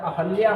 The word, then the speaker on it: अहल्या: की शुद्धता बाद में तो उच्चारण अहल्या होना चाहिए लेकिन उच्चारण ही इसका अशुद्ध हुआ है अहिल्या ठीक है तो ये